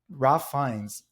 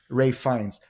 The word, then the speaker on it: Ralph Fiennes: Ralph Fiennes, but there was a way to say his name. Rafe, my bad. Rafe Fiennes is living in this